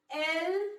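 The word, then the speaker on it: elles: We pronounce them as il and elle only.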